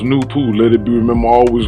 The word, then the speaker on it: NoopooH: Noone pronounced Noon is the science and philosophy of NoopooH, pronounced NoopooH.